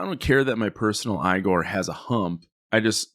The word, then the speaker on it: Igor: name Frankenstein Igor insists that his name is pronounced igore I always forget if it is Igor or igore because of this movie rather than the traditional eigor would you want a hunchback assistant to help